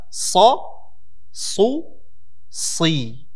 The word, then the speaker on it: ص: It requires the back of your tongue to go up and create this echo in your mouth and give this element of heaviness in its pronunciation.